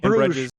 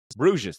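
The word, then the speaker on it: Bruges: Bres Brues.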